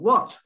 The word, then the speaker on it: what: What, the next one, what?